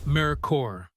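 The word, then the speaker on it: Merkur: the merker brand itself a name Americans struggled to pronounce its mercor sold through Lincoln Mercury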